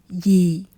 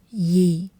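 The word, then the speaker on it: dì: we'll call her as yi. Yi. And also note that the letter d in Vietnamese is sounds as a y in English. So, yi is pronounced like yi with a soft downward tone.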